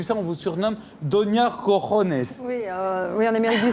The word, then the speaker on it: cojones: qu'on ne peut prononcer qu'en relevant la tête. Cojones. C'est-à-dire la jota espagnole est très propice.